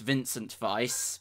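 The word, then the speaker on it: Wincent Weiss: winced and twice oh it would be pronounced Vincent vise because it does seem yeah it is actually a German artist never heard of them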